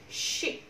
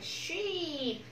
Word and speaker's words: ship: Y ngắn nào. Y. Ship, ship, ok, không phải sheep, no, ok, y, ship, y, ship, y, ship.